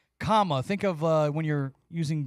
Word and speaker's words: Kamala: you need help, and this is for the people who call her Kamala and Kamla or whatever they say, but it's comma. Think of when you're using grammar and you put a comma in a sentence.